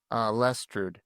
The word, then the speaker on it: Lestrud: So what's the proper pronunciation? Well, Lestrud. Yeah.